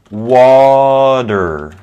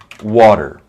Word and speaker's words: water: in in english um in american english water water water okay the the t